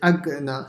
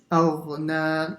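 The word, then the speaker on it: أغنى: And here, make sure you don't say agna. So a lot of students, they say that. Aghna with a line. So, and no, yeah. Ma aghna. Ma aghna.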